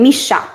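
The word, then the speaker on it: Missha: Misha.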